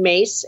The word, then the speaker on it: Myss: YouTube channel it's my name perfect can you spell that for people yes Caroline mace m-y-s-s and there's a number of lectures and